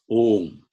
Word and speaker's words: Om: Om itself has got 3 syllables. A, U, M. And these syllables make you into one word called Om.